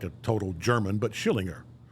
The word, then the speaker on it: Schillinger: Vernon Schillinger.